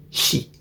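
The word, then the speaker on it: 四: youri your oi or your Chinese reading is pronounced she the way that you say is also she sometimes also read as shini but not even just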